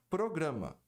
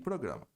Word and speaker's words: program: erre a pronúncia de programa. A maioria das pessoas diz program. A pronúncia correta é program. Program. Quando você fala program, soa como problem, problema.